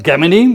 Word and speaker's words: Gemini: And so Gemini, which is the Polish pronunciation of Gemini, so Gemini Polska, this company, could you describe that in 2 sentences?